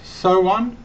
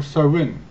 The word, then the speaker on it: Samhain: of some iron this original spelling was someone pronounce so on or so in the name is derived from old irish and